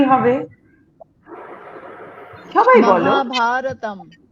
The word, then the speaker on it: মহাভারতম: মহাভারতম, মহাভারতম। মটাকে ছোট্ট করে, আকারগুলোকে বড় করে, আবার তমটাকে বড় করে, মহাভারতম।